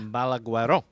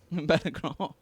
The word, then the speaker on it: Balagueró: Balagueró. Balagueró.